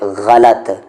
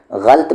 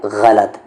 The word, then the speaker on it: غلط: ہے اس کا لفظ۔ پھر یہاں پر غین پہ زبر آئے گا، لام پہ زبر آئے گا اور تا پہ جزم آ جائے گا، اور اس کا صحیح تلفظ ہے غلط۔ غلط بہت سارے لوگ کہتے ہیں، تو یہ غلط ہے، تو اس کا صحیح تلفظ کیا ہے؟ غلط۔ تو یہ لفظ اور